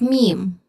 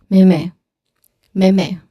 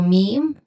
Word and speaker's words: meme: Now the common mistake is very easy. People say it as how it looks like. So they say it as mim me.